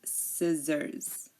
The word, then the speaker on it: scissors: the C so here the C is silent because um like we said it is after an S and before an e or an i again desent Fascinate floresent seen scent science and scissors uh repeat them after